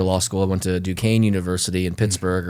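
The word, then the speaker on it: Duquesne: school I went to Dukane University in Pittsburgh or some people like to call it Dukeznney. uh um just because they don't know how to pronounce French words or whatever the heck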